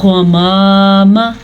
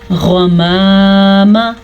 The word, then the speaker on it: غمام: غمام، غمام۔ سمجھانے کا یہ مقصد ہے کہ زبر کو آپ لمبا کریں گے تو یہ الف مدہ بن جائے گا، اس لیے زبر کو کسی بھی صورت میں لمبا نہیں کرنا، اس کو اتنی ہی مقدار کے ساتھ پڑھنا ہے جتنا اس کا حق ہے۔ تو ہم نے اس کو کیا پڑھا؟